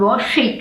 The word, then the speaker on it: Woschick: [What was your surname back then?] "Woschick" ,"Wo - schick" is the name. "Wohschick " is it pronounced.